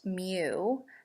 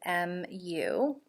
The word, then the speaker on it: mu: it this is the greek letter m it's pronounced mu as in m u it's pronounced mu and this says mu 1 equals mu 2.